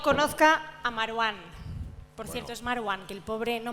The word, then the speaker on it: Marwán: que el pobre No Mar One que ha tenido por eso es mar One que el pobre ha tenido que poner una tilde en su nombre para que lo intentemos pronunciar bien y eso que que